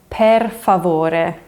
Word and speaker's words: per favore: And as a little bonus, in Italian to say please, it's per favore with an e. So not por favore, but per. Per favore, per favore.